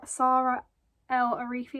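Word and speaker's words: Saara El-Arifi: little postcard advertising um SAR Sara L AR arifi s Sara L arifi I think that's how you say her name her new book um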